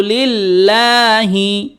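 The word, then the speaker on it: لله: হাজের হি, লিল্লাহি, অনেকে বলে কেমন করে? আত্তাহিয়াতু লিল্লাহি, তাহলে সঠিক কোনটা? আত্তাহিয়াতু লিল্লাহি, আত্তাহিয়াতু লিল্লাহি, আত্তাহিয়াতু লিল্লাহি।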